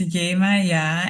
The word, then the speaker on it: Yemaya: My name is in Dutch and African. It is pronounced as Yemaya and there are so many different pronunciations of it.